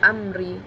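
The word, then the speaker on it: أَمْرِي: Kedua, amri, karena ra bertanda baca kasrah, maka dibaca tipis juga.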